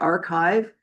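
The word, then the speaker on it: arXiv: The original one that may be most familiar with people is called Archive. It's spelled like AR and then the big XIV.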